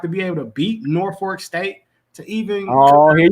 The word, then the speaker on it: Norfolk: they're gonna have to be able to beat Norfolk State to even oh here we go where